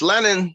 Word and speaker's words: Lennon: It's Lennon. You could call me Lenny.